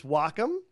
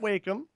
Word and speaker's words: Wacom: pronunciation and grammar so it's Wacom not wake them okay and the next